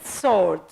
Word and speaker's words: sword: in the omenic now the word sword sword the W letter can't be pronounced Castle Castle which means